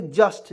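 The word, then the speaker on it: just: जे यू एसटी तो जुट नहीं पढ़ेंगे बत लोग जस्ट पढ नहीं यहां पे पढ़ेंगे जस्ट जे यू से देखिए जे से ज लिखेंगे यू को साइलेंट करेंगे ए से आधा स लिखेंगे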